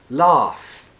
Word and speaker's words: laugh: in the end but the vowel sound laugh ha laugh is an a like in car that was a really